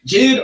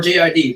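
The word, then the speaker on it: J.I.D: So this is JID or JID, depending on how you want to say his name.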